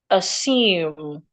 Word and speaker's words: assume: Note that word assume. It is not assume. Assume that and this is how it should be pronounced. Assume. Yes. Assume the s remains a s. Assume as in snake.